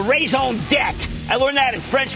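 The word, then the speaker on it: raison d'être: need what i call raison debt i learned that in french class you don't pronounce the re jack and i see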